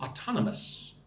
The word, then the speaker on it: autonomous: So autonomous. It's the next word. Say that with me. Practice your English. Mus. 4 syllables. Autonomous. Suarez says, hi, from Timor-Leste.